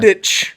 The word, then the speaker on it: Mandic: Ivana Which is pronounced Mandic. CH. She should go play It's for the. Mandich.